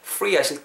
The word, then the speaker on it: free: 발음 주의하실 거 duty free라고 하시면 안 되고 duty free F-R-E잖아요. F 사운드는 절대로 양 입술이 닿으면 안 됩니다. 토끼 이빨 free 하실 때 윗니 아랫 입술을 대시고 from a duty free shop 이렇게 발음해 주면 좋을 것 같습니다.